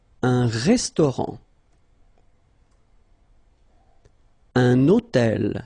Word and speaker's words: hôtel: Un hôtel. So you can see that I'm making this little liaison, this little link between the two. Un hôtel.